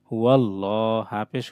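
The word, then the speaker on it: هو الله: এটা হুয়াল্লাহ হবে, লা হবে না, কারণ আল্লাহ শব্দের আগে জবর।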